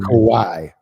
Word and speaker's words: Kawhi: Kawhi Leonard.